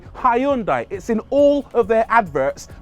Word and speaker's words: Hyundai: a Hyundai somebody pipes up and says it's pronounced Hundai like Sunday no it's not not in the UK over here Hyundai taught us to say hyund it's in all of their adverts pronounced hyundi so